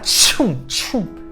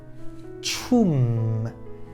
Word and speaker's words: 춤: Tch, ou, Ça donne tchoum. Et non pas tchou. Prononcez le à la fin. Tchoum. chum, chum, chum.